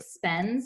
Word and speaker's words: spends: The S in the word spends in the suffix is making the Z sound.